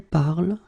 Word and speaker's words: parles: So it does mean that even if you write them differently, es, and then ent, you will pronounce them the same way.